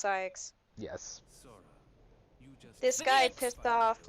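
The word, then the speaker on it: Saïx: up every single time psyx it's psychs yes this guy pissed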